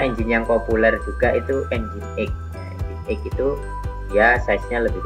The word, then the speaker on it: Nginx: Kalau dibaca ada yang membacanya itu Nging ya. Kalau kalian pernah buka browsing tahu-tahu kok tampilannya Nging ya, Nginx ya. Itu sebenarnya bacanya Nginx, tapi kalau kita bacanya kadang dibaca Nging gitu ya. Tapi sebenarnya Nginx.